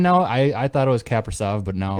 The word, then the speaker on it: Kaprizov: Were they even How do in you the pronounce playoffs? his name now? I thought it was Kaprizov, but now It's Kaprizov.